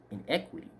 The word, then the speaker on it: iniquity: equity is value gain iniquity is pronounced wrong it should be pronounced in equity and equity is devalued